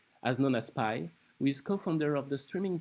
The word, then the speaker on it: Py: difficult to pronounce so just please call me pi like apple pie I was born in